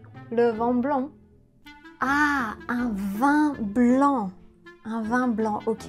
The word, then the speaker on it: vin: Bonjour, vous avez choisi pour moi le vent blanc.